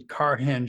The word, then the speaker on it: Carhenge: and astronomy um yeah when I first saw it I was thinking carhenge I'm saying that doesn't look like it's spelled right but it's it's a car henge car you know just